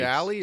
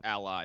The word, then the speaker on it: Ally: Is it Alley or Ally? Well, I like Alley, but it is Ally. That's the proper pronunciation.